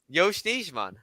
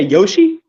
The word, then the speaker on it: Yosh Nijman: Say his name again. Yosh Nijman. You say Yoshi? No, Yosh Nijman. Yoshi. That man's name is just letters.